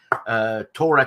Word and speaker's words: Tora: thing is is that Torah Torah Torah the syllable the accent is on the o which is not a Japanese thing to do put the accent in the middle of a word but Japanese doesn't use